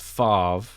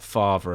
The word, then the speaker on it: Favre: on this already but Brett Favre not father apparently because that was the Something About Mary pronunciation that only I've heard but yeah he he's